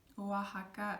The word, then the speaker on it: Oaxaca: Oaxaca, again, this is all like indigenous words, names of places, and they're spelled with X, but we pronounce it like soft H.